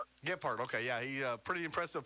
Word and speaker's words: Gilbert: Is that how you pronounce that name? Gilbert, okay, yeah.